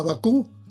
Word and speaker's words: Bakú: Se va nuestro presidente, nuestro amado Presi, a Bakú, con acento en la U, se reúne con dos